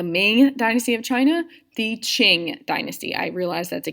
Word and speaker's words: Qing: manchu defeated the ming dynasty of china the ching dynasty i realize that's a cue but it's pronounced qing how were women treated in china